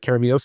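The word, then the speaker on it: Keremeos: And you're going to, David, I want you to correct me on my pronunciation here if I'm wrong. Near Karamios. Am I saying Karamios? I believe that's right. Karamios, yeah.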